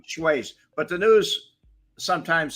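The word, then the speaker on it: Schweihs: We didn't say Schweiz either. Frank Schweiz. Frank the German Schweiz. Schweiz, not Schweiz. It was Schweiz. We never said Schweiz.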